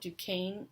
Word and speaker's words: Duquesne: looks like it's spelled fort duquesne but it's pronounced port duquesne i'm told and it is at a point